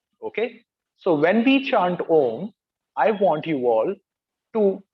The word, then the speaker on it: om: three ohms okay now ohm is essentially a combination of three syllables uh ooh and mum okay so when we chant om i want you all